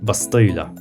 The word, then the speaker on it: bastilla: the dish is popular the dish is called bastilla with an initial b and aulalized whereas safari jews speaking ladina and l kattia preserve the p pronunciation calling it pastill a name which has survived